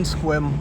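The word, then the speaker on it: Sequim: going to be going back over to our Squim location. So the address for that is 87 Drake Road in Squim, Washington.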